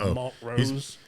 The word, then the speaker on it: Montrose: Well, you got these old school people from Montro, you know, the ones who pronounce it Mont Rose.